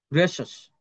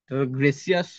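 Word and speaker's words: gracious: তারপর এটার উচ্চারণ তো ম্যাক্সিমাম ভুল হয়, গ্রেসাস। গ্রেসিয়াস সবসময় বলে, বেশিরভাগ যারা আমি দেখেছি, অনেকেই যারা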